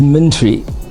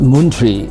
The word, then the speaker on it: Muntri: this country you know he was pronouncing it as minty everyone once wanted to know what moon tree meant but it was actually meant to be mint tree so it was named